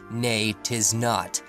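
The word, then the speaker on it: Neitiznot: the island's name is actually supposed to be pronounced nate is not and yachties OGG so just I so however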